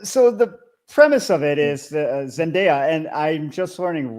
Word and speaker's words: Zendaya: be in the same, I guess, genre of Zendaya.